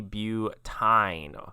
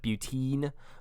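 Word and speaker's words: butyne: And then this one has a triple bond, so this would be butine, or butine. You could probably also pronounce that butene, but you would want to make sure you spell it with a Y.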